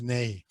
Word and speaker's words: INEGI: spelled Inegi, and it's pronounced Nei.